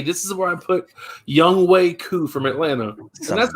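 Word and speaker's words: Younghoe Koo: This is where I put Young Wei Koo from Atlanta. And that's how you pronounce it. It's Young Wei. Young Ho Koo. It's not Young Ho. It looks like Young Ho.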